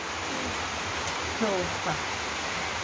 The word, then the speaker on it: sofá: Cuando lleva la tilde, mamá, en algunas letras. Ajá, entonces ya suena como al final, entonces lleva tilde. Sofá. Ya la A es con más ajá, énfasis. Sofá. Sofá, al final ya es más fuerte.